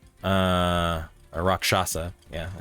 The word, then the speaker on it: Rakshasa: Arya, you would know that they are, depending on the Rakshasa, or Rakshasa.